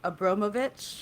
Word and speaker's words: Abramovich: I'm going to say his name wrong, Abramovich.